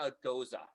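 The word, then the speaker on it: Gose: a g-o-s-e right there i always think of a nose with a g but adding uh like you kind of forget how to say it um yeah it goes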